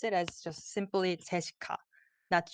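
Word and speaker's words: 제시카: it as just simply Jessica that's Jessica we don't have the American accent because we wrote it in Korean way so it's Jessica and it's cold it's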